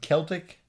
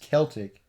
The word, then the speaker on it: Celtic: I know that people some people say Celtic and Celtic. Yeah, I think that's in England and Wales. It's usually pronounced Celtic. Yeah. Whereas in Scotland, you're more likely to hear Celtic.